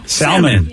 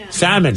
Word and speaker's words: salmon: joking oh gosh yeah salmon salmon salmon yeah i don't know why the l is silent this is the dumb